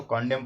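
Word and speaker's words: condemn: होता है निंदा करना सी ओ एन दी एम एन यहां पे एन जो है वो साइलेंट है तो कंडोम पढ़ा जाएगा निंदा करना है यह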